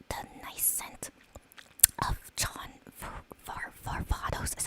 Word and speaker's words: John Varvatos: think this says like, the nice scent of John Varvatos, is how you pronounce it.